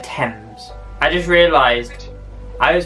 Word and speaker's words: Thames: hang on hang on it's not really the river tame it's river thames i just realized i